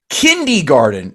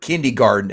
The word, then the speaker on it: kindergarten: been dead no kidding kindy Garden is how uneducated people pronounce that word that also fly Spirit Airlines and take a Carnival Cruise that's who says the word kindergarten and such I fly